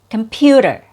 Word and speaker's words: computer: The third syllable has a schwa or a weak vowel sound, der, and it has a fast D sound, der.